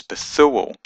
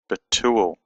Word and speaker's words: Bethuel: That's why in our English Bibles the name is Bethuel, but an Israeli would pronounce this Betuel.